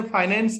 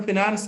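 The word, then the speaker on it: finance: आप इसे देखिएगा, ब्रिटिश इंग्लिश में ये फाइनेंस है, अमेरिकन में फिनांस है।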